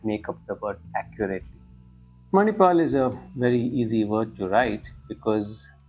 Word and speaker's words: Manipal: just say it as Manipal. But most of the South Indian languages include that vowel at the end of the word and say it as Manipala.